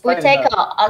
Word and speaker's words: Buteyko: It's actually a Russian name, so I don't know how the Russians pronounce it. You should say Buteyko, okay. Buteyko. Yes, it's Buteyko.